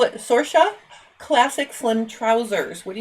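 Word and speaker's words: Sorcha: spell that s-o-r-c-h-a sorcia oh you're not spelling it the Irish way well no that was our joke Anna loved all the Irish names but you can't pronounce them and spell them so sorsha it sounds just like it looks um and then because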